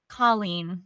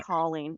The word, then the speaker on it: Colleen: Colleen would be Call. great. Okay, thank you. Yeah. Colleen.